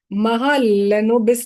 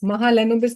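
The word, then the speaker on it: Mahalanobis: Let me pronounce it. It is Mahal Lenobis distance. Mahalenobis distance.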